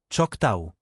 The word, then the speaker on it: Choctaw: Pronunciation note. Navajo, Nahvo, Choctaw, Choctaw.